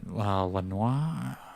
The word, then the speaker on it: Lanois: Yeah, Brian Eno, Roger Eno, and Daniel Lanois. Lanois, I don't know how to pronounce his last name. Lanois, yeah.